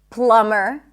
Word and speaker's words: plumber: When there is MB, especially at the end of words, the B is not pronounced. So in words like limb, climb, no B, bomb, no B, crumb, plumber, comb, there is no B whatsoever.